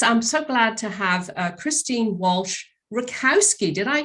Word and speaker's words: Christine Walsh Rakowski: coach so this i'm so glad to have christine walsh rakowski did i pronounce that right yes very much right yeah